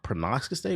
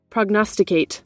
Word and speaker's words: prognosticate: 6, Rockstar uh I don't know how to pronounce that. Pronox Pronostate. We're about to learn a new word, bro. Prognosticate.